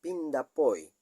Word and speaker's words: Pindapoy: El término Pindapoy consta de 3 sílabas, que en realidad hacen referencia a 3 palabras de origen guaraní, que es Pinda, Po, I.